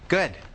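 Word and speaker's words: Goode: good good oh it's got an e on the end so some people pronounce it goody but it's just good yeah and may I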